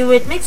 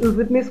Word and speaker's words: Eurythmics: À cette époque, quand elle m'a appelé, j'ai pas tout compris avec la prononciation de Eurythmics, parce que nous on dit Eurythmics.